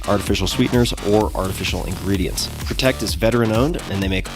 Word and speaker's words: Protekt: Protect is veteranowned and they make all of their products right here in the USA. And right now, Protect is offering you 30% off both flavors of their Rest formula.